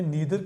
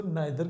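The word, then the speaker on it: neither: ये नीदर जो होता है बेसिकली इसको ब्रिटिश प्रोनाउंसिएशन में नीदर कहते हैं और अमेरिकन इंग्लिश में इसको नाइदर कहते हैं।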